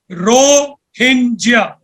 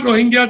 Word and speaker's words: Rohingya: uh it is pronounced as ringas it is pronounced as ringia and not rohinga the way many of us pronounce it and